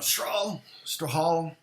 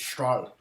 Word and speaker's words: Strahle: Yeah, people are always spelling Strahle wrong. Or they're pronouncing it wrong. Strahle. But, I'm not pronouncing it correct anyway, because it's Strahle. It's not Strahle.